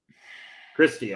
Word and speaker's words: Kirstie: I will say, that you're playing that clip with Katie Alley, or what? No, am I saying her name wrong? Kirstie Alley.